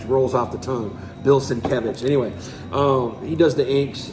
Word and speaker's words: Sienkiewicz: Bill Sienkiewicz.